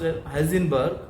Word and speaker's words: Heisenberg: So this principle, what it means, Heisenberg, it is pronounced Heisenberg, is a name of a scientist.